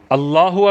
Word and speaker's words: اللہ: بہت زیادہ ضروری ہے۔ اللہ اکبر جیسے ہم نے پہلے پڑھا تھا، اللہ پہ زبر پڑھنی ہے، کھڑا زبر نہیں ہونا چاہیے، اکبر پہ زبر پڑھنی